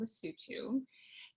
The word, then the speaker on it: Lesotho: The first place I lived in Africa is a tiny country called Lesotho. It's spelled differently than it sounds. It's spelled Lesotho. The O is pronounced as like oo.